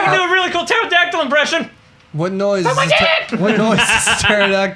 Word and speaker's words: pterodactyl: do a really cool pterodactyl impression what noise what noise do pterodactyl make when it goes to the bathroom no nothing cuz the p is silent God damn it flavor